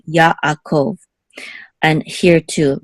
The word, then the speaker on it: Yaakov: This ayin, we say it's a silent letter, but if it follows a letter that has its own vowel, we're going to separate the sounds also here. So Yaakov, Yaakov.